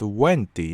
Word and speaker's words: Venti: Venti, the animal Archimbarbatos, is pronounced Venti in Latin.